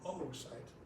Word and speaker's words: oocyte: So the ovarian cycle, which is oogenesis, which means the production of oocyte. I'm not stuttering, that's how they pronounce it.